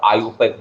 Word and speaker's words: IUPAC: लेकिन इसका जब करेक्ट प्रोनाउंसिएशन करते हो ना तो आयुपैक बोलते हो, आयुपैक, ठीक है, आयु international union of pure and applied chemistry, IUPAC name.